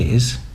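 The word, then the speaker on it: hay: what you can say is I thinner you know do you do dinner I then and it's spelled hey but it's pronounced how English people say the word I you know your height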